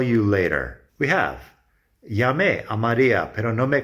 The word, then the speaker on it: Llamé: Llamé has an accent on the E. Contestó has an accent on the O.